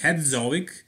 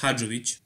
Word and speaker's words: Hadzovic: category and yeah his name is not static head zoic it's sonic had 'rich originally so he's from